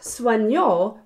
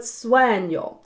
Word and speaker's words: sueño: Now it's not sueño, but sueño.